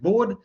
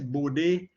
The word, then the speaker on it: Bode: signals calls calls it bode right i'm not too sure how henry himself pronounced it he was um the name is dutch so i think it's bodhi i believe i've heard somewhere